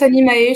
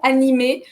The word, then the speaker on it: Animae: Bon, on prononce Animae chez nous, mais on prononce comme il a envie, il n'y a pas de problème. En latin, on prononcerait animé, donc il n'y a pas de problème pour les gens qui prononcent animé. Nous, on dit Animae parce que on est des bons Français, tu sais, on prononce toutes les lettres.